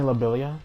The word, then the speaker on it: Lobelia: She can control the movement of her tiny lobelia. That's how you pronounce it? Yeah, tiny lobelia.